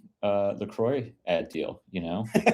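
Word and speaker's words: LaCroix: Like how you say Lacroy, but you've heard the Laqua. Lacroy. It's Lacroy.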